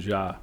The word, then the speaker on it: Jah: And then most people pronounce it Javil, but it's actually Ja.